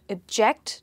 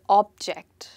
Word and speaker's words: object: object to the object as you can hear i pronounced them differently because the word stress i repeat myself i did not object to the object so the stress here is on the second syllable i did not object